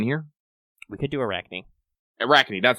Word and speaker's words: Arachne: Arachne, that's how you pronounce it.